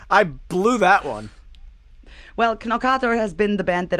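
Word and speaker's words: Knorkator: in the band name it's called norcator oh jeez i would have never got that but it's so funny to hear americans trying to pronounce it yeah i i blew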